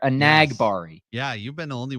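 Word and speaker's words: Enagbare: really to do that emphasis on the n on the second syllable there a nag Bari yeah you been the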